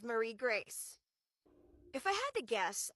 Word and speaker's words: Marie Grace: I have noticed that sometimes people say Mary Grace or type Mary Grace in instead of Marie Grace.